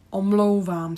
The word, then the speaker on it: Omlouvám: Omlouvám se. Here, just pay attention to this diphthong, the double vowel O. O. So you have O and U connected, so it's really smooth.